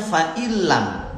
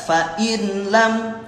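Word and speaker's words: فَإِن لَّمْ: Jadi bacanya fa'ilam ya. Fa'ilam ya, enggak fa'inlam. Nah, karena menghadapi huruf idgham bila gunnah. Idgham itu memasukkan, bila gunnah itu dengan tanpa gunnah.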